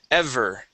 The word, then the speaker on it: ever: right give me that V sound EV ever he had ever seen okay so let's let's practice that vibration here v v ver ever there you go okay